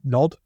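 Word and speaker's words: Gnod: Is it Nod? Yes. G-N-O-D. Yeah. John from Nod.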